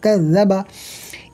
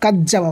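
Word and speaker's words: كذّب: কাযযাবা, calf জাল জবর কায, জাল জবর যা, কাযযা, বা জবর বা, কাযযাবা। এখানে অনেকে জালের উচ্চারণটা কাজ্জাবা বলে, কাজ্জাবা। জিমটাকে জালটাকে মানে জিম উচ্চারণ করে, যে কাজ্জাবা হবে না, বরং কাযযাবা।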